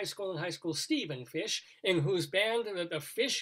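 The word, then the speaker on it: Fisch: sheep also um what is your last name fish spell it f-i-s-c-h oh okay because i was mrs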